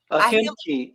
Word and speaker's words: Ahimki: Ahimki.